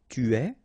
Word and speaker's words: tu es: Tu es, okay, so it's quite strange because you get this ES, but then phonetically it's est. Alright, quite open.